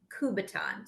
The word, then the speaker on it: Kubaton: a t o n kubaton so just like a baton but put K yeah KU in front of it kuu b a t o n a kubaton there's all kinds of